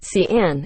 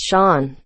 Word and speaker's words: Sean: bothers me a lot people tend to say my name is scene or xi'an even though it's sean and as a kid